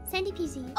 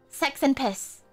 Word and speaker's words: SXNDYPZ: I wanna say the X is like a replacement for A. I'll say it's Sandy. Sandy PZ. Okay, but this is just divine. Exquisite. Finally, a first tuber that actually got the pronunciation right.